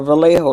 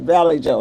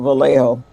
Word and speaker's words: Vallejo: been calling it no he said valley Joe that's what he said he called it valley Joe valley Joe